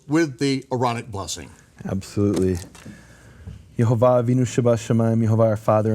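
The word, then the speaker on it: יהוה: And it's definitive that the Jewish sources say the name of the Father, according to its true pronunciation, is Yehovah.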